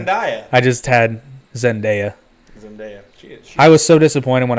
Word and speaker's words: Zendaya: i know it's boring it's not zendaya it's just zendaya just like it's spelled did i say zendaya